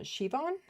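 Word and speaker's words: Siobhan: And so, somebody's saying that they think this is pronounced uh Shivon. She her name is Shivon.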